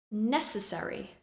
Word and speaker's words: necessary: the first syllable vulnerable necessary I stress the first syllable necessary career we stress